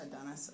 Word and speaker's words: Adonis: pronounce your first name I pronounce my first name Adonis Adonis okay I didn't want